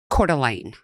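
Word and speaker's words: Coeur d'Alene: Lake Cordelane. All right. And the way it is spelled, I would have never guessed that was the way it was pronounced. It looks French to me.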